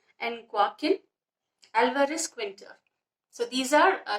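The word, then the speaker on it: Joaquín: The Serafin is pronounced as Serafin. The second one, that is Joaquin, is pronounced as Joaquin.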